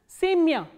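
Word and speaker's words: семя: The same way, sa, ye, ma, ya, and the stress is on ye, not on ya. So, ya is in unstressed. So, what happens is it is pronounced as semya.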